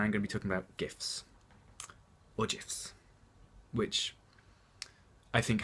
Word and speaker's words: GIF: been quoted as saying it's soft G pronounced GIF end of story well